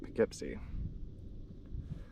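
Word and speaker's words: Poughkeepsie: Can't stand it out, but everybody's been calling it Pikipsy.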